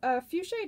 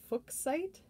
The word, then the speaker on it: fuchsite: So fuchsite is typically pronounced with a long U and a long I. However, the material is named after Johann Nepomuk von Fuchs, a German chemist and mineralogist. His name is pronounced Fuchs, similar to the way you pronounce books or like looks. So a lot of people argue that it should technically be pronounced Fuchsite.